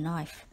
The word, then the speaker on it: knife: cut herself with a knife remember the word knife starts with the silent K word number seven is